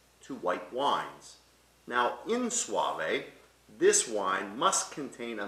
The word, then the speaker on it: Soave: of rico suave but it will help you pronounce the wine this is actually named for a town in northern italy by the name of suave in the veneto province now a suave wine is a white